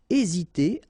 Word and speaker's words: hésiter: aider à hésiter à remember is not pronoun first letter here hésiter à tenir à quelqu'un or then it could be tenir à the verb should be the infinitive form.